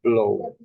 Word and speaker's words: blow: Here in the same combination, you pronounce like O. O. In this case, you say blow.